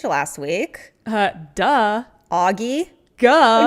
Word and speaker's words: Ge: week uh duh Auggie g g fun fact that's how you pronounce the last name g e g like duh so sorry Auggie that we were putting you in the category of ghee butter last week we